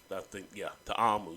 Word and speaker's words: Ta'amu: I mispronounced his name. Jordan Ta'amu. Ta'amu. That's his name.